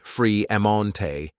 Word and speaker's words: Fremonte: Now, at 18, Sage had 2 sisters named Age, pronounced A-J, and Lage, pronounced La-J Smith, and 2 brothers named Fremonte, pronounced Free-Emonte, and Tremonte, pronounced Tree-Emonte, Jones.